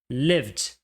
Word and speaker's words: lived: Então você vai ter lived, lived. Presta atenção, lived não tem o som de e. Não é lived, não é lived, e sim lived.